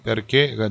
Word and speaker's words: perché: Perché? 요 perché 이게 what 이라는 단어인데요. Why? Why? What이 아니고 why? 요거를 이태리 말로 하면 perché가 되는데 꼭 끝이 올라가게 돼 있습니다. 액센트가 뒤에 붙어서 perché del passato, passato.